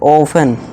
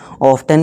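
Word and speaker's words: often: नहीं इस तरह से ऑफेन ऑफेन ठीक देखिए दोस्तों यहां प कई लोग इसे ऑफेन को ऑफ्टन भी बोलते हैं जो कि यह भी ठीक है चलिए दोनों ही सही ऑफेन भी कह सकते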